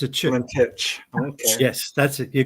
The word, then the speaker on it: Valentich: Valentich. Okay. Yes, that's it. You got it. I've been mispronouncing it the whole time.